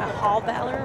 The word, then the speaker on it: Halbauer: You know, and we look at, you know, the newbie on the court, Hauballer. I think I'm going to change how I say her name to Hauballer right now.